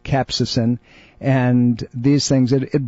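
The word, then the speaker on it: capsaicin: i n and it's it's actually pronounced cap say sin capsacin and these things it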